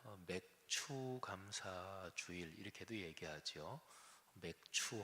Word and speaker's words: 맥추: 맥추 할 때는 발음을 잘 해야 돼요. 아니면 맥주가 되니까.